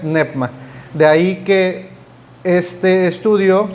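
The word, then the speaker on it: πνεῦμα: es nepma o neoma muchos muchos lo conocíamos como como neuma pero la pronunciación correcta es nepma de ahí que este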